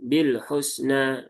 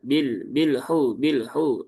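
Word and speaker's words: بالحسنى: Lam punya sifat tawasud. Maka tunaikan tawasudnya. Jangan bil husna, bilhu. Nah, itu tawasudnya belum tertunaikan. Jadi tawasud itu pengertian mudahnya diucapkan sambil jalan atau kata lain dialirkan separuhnya.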